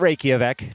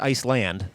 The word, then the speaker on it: Iceland: 708 to play here from Iceland not raik just Iceland I promise despite the pronunciation it'll be Russo at